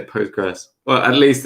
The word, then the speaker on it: Postgres: which i don't yeah it's like ql is not pronounced it doesn't exist people just say postgres well at least it's